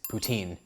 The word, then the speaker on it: poutine: poutine right here or I actually should pronounce it properly it's poutine I know a lot of